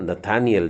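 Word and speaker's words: נתנאל: है और दो डॉट, तो इसका उच्चारण हो जाएगा न ता न एल, नतनएल। हाँ, नथानियल जो है, इंग्लिश में हम लोग नथानियल बोलते हैं, नतनेल बोलते हैं, इसका मतलब होता है परमेश्वर का तोहफा।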